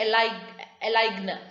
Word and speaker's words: align: That is, if the letter G is silent when it appears before the letter N in certain cases.